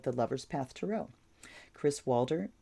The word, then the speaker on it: Waldherr: Kris Waldherr, I'm assuming it's pronounced Walter, Waldherr.